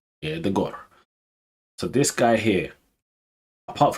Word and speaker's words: Odegaard: Odegaard, big one this season.